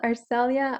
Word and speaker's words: Arcelia: you're all hydrated hearing officer so it's called arcelia i says and it's spelled a r c e l i a